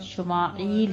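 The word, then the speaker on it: ישמעאל: یہ نام رکھا گیا۔ عبرانی میں اس کا تلفظ شمائیل ہے، ٹھیک ہے۔ شمائیل کسے کہتے ہیں؟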